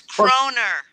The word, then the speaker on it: kroner: like the beer bug maybe is it crohn's it's kroner oh okay with an r at the end oh my god show